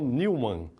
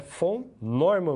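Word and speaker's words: von Neumann: de honra viu gente Eu já vi muitas pessoas lerem isso aí como vão Newman não tem nada a ver não é Newman não tá é fome Norma mesmo a pronúncia essa fome Norma tá bom então vamos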